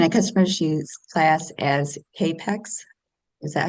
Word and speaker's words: capex: Oh, can a customer choose class as capex? Is that how you say it? Cap pex.